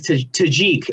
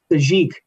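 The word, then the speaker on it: Tajic: I honestly think Tajik, actually, I think it's the correct pronunciation. Tajik, because he's not tragic, he is Tajik.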